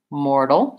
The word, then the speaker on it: mortal: help you with it I would write more and then kind of dull with very little vowel mortal stress on the first syllable mortal world as many